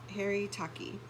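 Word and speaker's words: haritaki: third eye um that's something to look into it's spelled h-a-r-i-t-a-k e Harry Taki um there's all kinds of ways to shift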